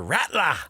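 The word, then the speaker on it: Rattler: tonight for the Saints uh I think it's pronounced Spencer ratler rased shahid's out for the year he's not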